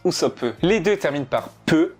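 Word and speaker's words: Usopp: n'est pas un hasard en japonais le nom du village se prononce chierope et housousop se pronce ousop les deux terminent par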